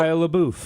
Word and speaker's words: Shia LaBeouf: So, Shia LaBeouf. It was a big Shia LaBeouf.